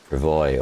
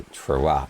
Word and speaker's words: travois: It's a travois or it's a travois. No, you have to emphasize the wah.